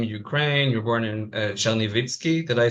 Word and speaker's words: Chernivtsi: You were born in Chernivtsi. Did I say it correctly? Chernovitz, right?